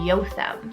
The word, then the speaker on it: Jotham: It means the Lord is perfect, and that is the name Jotham, or it is a Hebrew name, so in Hebrew it would be Jotham.